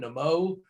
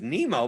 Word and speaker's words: Nimmo: it was he lost i didn't think his name was nemo but i just thought it was nimmo the moe i think it's the moe that said that you have to phonetically pronounce it that way i i think that